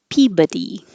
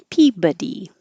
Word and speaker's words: Peabody: of the big points this one also doesn't sound like it looks like it looks like Peabody but it's pronounced Peabody Peabody it's kind of fun